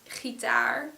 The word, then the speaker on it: gitaar: For example, the word gitaar has a stress on the taar part, so on the last syllable, so the plural would be gitaren.